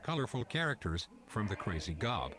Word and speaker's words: Gob: characters from the crazy gob pronounced job who wants to be